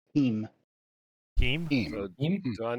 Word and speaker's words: Tim: So the Russian version of the name Tim is specifically pronounced Team.